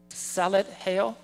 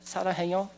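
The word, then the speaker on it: 사랑해: Salad heo? Sarangheo? Sarangheo? Oh, it's not salad. I hate salad.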